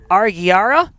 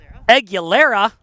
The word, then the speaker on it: Aguilera: There's an L there.